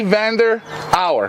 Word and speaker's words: Van der Auwera: with gee hello gee Vander our yes I pronounced it right it's a Flemish name it's very difficult Ryan but no problem